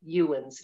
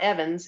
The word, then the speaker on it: Ewens: Well, this person actually, for instance, the man's name was William Ewens, and it's spelled E-W-E-N-S. It's not Evans, it's Ewen, E-W. So he actually was one that went to see the treasure when it arrived.